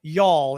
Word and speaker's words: y'all: It's almost like, it's actually all, A-W-L, y'all is the way I would spell it. Y-A-W-L, like all, which I think is a word. Drawl. Actually, that's right. It's got the drawl. Well, actually, it is like the word drawl with a Y.